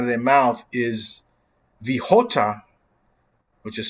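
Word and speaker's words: jota: words comes out of their mouth is the hota which is spelled j-o-t-a and as you know the the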